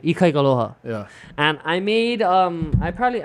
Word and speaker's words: Ikaikaloha: But you don't say it like Ikaika aloha. Right. You just say Ikaikaloha.